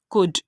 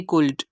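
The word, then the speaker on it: could: को साइलेंट कर दिया और इसकी प्रोनाउंसिएशन की कुड ना कि कुल्ड।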